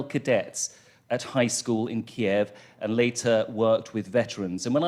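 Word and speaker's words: Kyiv: Ukraine, and he said it's always, however you say it, it's got 2 syllables, and it is Kiev. And they will have much better pronunciation than me, obviously, so forgive me sometimes when I try and make it clear there are 2 syllables, if it sounds like a Russian pronunciation, because it ain't.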